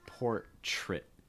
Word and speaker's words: portrait: times when you have the letters TR R together they're going to make like a CH something ch um it's like portrait trit so it's almost like a CHR trit portrait portrait and again stressing the uh the first syllable there okay so your